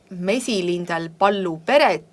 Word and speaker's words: Mesilindel Pallu Peret: And we had a meeting and Aili wrote that if you start pronouncing this next title, Mesilindel Pallu Peret, then think of the word ball, pall. So the title is Mesilindel Pallu Peret, and it is performed by Kännu Peal Käbi.